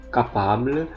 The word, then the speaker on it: capable: Jadi huruf C yang diikuti oleh A dibaca A, U, O itu dibaca K, capable, sementara huruf C yang diikuti oleh huruf I atau E dia dibaca S, cible.